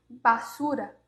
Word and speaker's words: basura: Esse não é o som do B realmente. Então, basura, butaca, força ele.